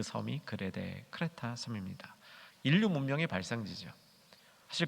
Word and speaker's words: 크레타: 디도서의 배경은 그레데라는 섬이죠. 요즘 발음은 크레타라는 섬인데 그리스의 제주도다, 이렇게 정리하시면 됩니다.